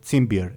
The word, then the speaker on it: Timbir: Timbir is how you'd pronounce it.